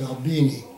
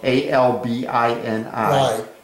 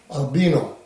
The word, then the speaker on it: Albini: explained it so well my name is albini spelled with an eye of a-l-b-i-n-i during my uh induction into the army somehow it became albino yeah and there are some people named albino but mine is albini yeah so i never